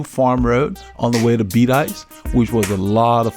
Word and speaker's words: Bedias: learn the correct pronunciation of Shiro and even beat ice I was pronouncing it BDS because of house of spell but once we got to beat ice the lady that worked at the reading store